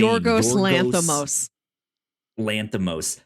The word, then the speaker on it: Yorgos Lanthimos: Yorgos Lanthimos.